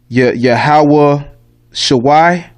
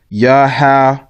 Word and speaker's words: Yahawashi: Tanakh, it might say Yahawah Shawai, Yahawah Shawai. That's wrong too. That's the wrong pronunciation. Okay, you would take this Y out, and actually it's just Yahawashi.